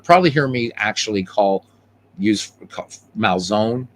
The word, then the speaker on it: Malzone: And you'll probably hear me actually use Malzone. I'm actually going to probably say it the way it should be said, which is Malzone, because we don't have silent letters in Italian.